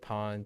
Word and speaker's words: Pwn: Pwn Adventures. Yeah, there are a lot of Pwn Adventures. Unless you pronounce it Pon, but there are quite a lot of those.